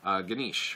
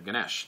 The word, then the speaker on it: Ganesh: hearing about the story in hinduism talking about ganesh or ganesh depending on how you want to pronounce it and they were talking about why